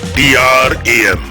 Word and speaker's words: DRAM: DRAM, pronounce DRAM, is widely used as a computer main memory.